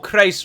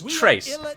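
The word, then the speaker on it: Chrace: I've seen many people pronounce this province as Trace, which is how I would also pronounce it, because a hard CH at the start of the word is very rare in almost all languages that I'm aware of.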